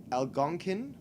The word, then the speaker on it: Algonquin: It is a creature that is common in the Algonquin, which is the proper pronunciation, cultures of their various different tribes and nations.